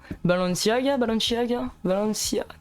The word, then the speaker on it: Balenciaga: Tu nous as toujours pas montré ton pantalon Balenciaga, bah je peux pas, c'est Nadim qui le porte.